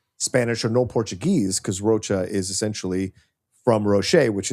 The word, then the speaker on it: Rocha: Yeah, you're sure you have because people don't because people pronounce it Roachcha. That's the natural pronunciation of my last name.